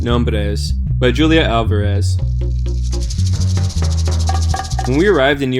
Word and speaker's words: Alvarez: her name to myself, opening my mouth wide for the organ blast of the A, trilling my tongue for the drum roll of the R. Alvarez.